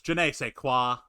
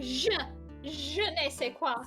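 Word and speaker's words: je ne sais quoi: mr caretaker man is janae say quoi give your old man a french education class you don't pronounce it like a hard j nick you pronounce it like je nei se quoi je ne sais thank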